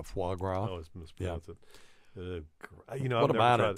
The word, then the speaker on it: foie gras: is talking about frog always mispronounced frog yeah foie gras you know what about